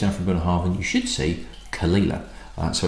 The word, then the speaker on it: Caol Ila: of see just African Heartland you should see kalila so it's not caol ila or anything like that it's one of when